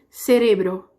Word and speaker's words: cerebro: No espanhol vai ficar cerebro, cérebro, cerebro. Tudo bem?